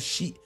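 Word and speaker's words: し: Warna 4, in Japanese, itu dipronounce-nya she.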